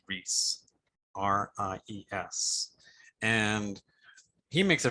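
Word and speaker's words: Ries: popular business book by eric i think it's pronounced reese r-i-e-s and he makes a very good case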